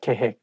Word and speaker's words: 계획: I think when it has double vowel like OE of 획, it's not heck, it has to be 획. That is the one making this word not easy to pronounce. So make sure that you say 계획, not 계획.